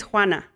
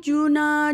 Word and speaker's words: Juana: name juana that's beautiful a lot of people when i was going to school they couldn't pronounce juana and i would cry to my mom i'm like oh they call me juna joanna you wanna i'm like i don't